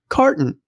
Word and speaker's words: Karton: promising new project called Carton. That's spelled K A R T O N, not C A R.